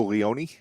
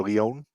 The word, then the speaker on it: Leon: Ashton Adonis beats Savio Leone or Leon. I hope I'm not mispronouncing that. It is Leon.